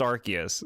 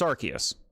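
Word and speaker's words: Arceus: just like the whole archus debacle some pronounce it the seaway Okay. And some pronounce it the C in a hard K- like way. Now you're trolling because you know it's pronounced Archus.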